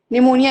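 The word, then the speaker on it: pneumoniae: जा रहे हैं, पहुंच रहे हैं निमोनिया वाले पे। और वहां पे एन एन से नहीं होता, पी होता है, पी एन होता है, पी साइलेंट होता है।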